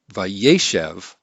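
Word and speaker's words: וַיֵּשֶׁב: this with two series but since the accent's been shifted to the right it's vaishev then this final syllable loses its accent and so the vowel shortens and then we have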